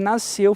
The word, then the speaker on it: nasceu: Nasceu, fulano nasceu. A gente fala nasceu. Esse S não é pronunciado.